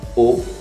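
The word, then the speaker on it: eau: Água mineral, água, ou é como se fosse um O com um chapéuzinho do vovô lá, o circunflexo. Ou, não é muito assim, mas é uma fonética que quem aprende português, lusófonos, não conhece essa fonética da água. É a U, esse som do E a U, mas é semelhante a isso.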